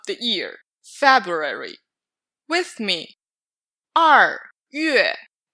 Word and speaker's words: 2月: 2月. Don't read 月 separating the vowel. In Chinese, each character is just one syllable.